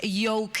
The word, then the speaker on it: Yoke: My name is Yoke. But it's spelled Joke.